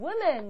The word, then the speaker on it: women: 2명이 되면 two women. 이렇게 됩니다. man 발음만 바뀌는 게 아니라 W-O인데도요. it. 발음이 나요. 그래서 woman이 아니라 women 이렇게 발음이 돼요.